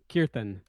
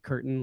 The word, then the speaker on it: kirtan: So the A is like a sound. Kirtan. Yeah, so that's point one is like these things take on a whole new meaning, including in their pronunciation. Sometimes Qais and I joke that we just start calling it curtain like a shower curtain, poking fun at the mispronunciation.